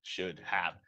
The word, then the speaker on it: should have: Should have. Se quita la H prácticamente and we say should have, no?